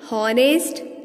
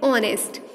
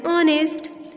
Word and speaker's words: honest: We pronounce it honest. It starts with O. As we pronounce it as honest, so we say an honest instead of a honest man, because H remains silent here.